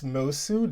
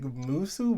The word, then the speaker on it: Moço: Did I say it correctly? You got it right this time, honey. This time, oh my god, yes. I don't know why I was struggling with that. I was like Musu, Mosu.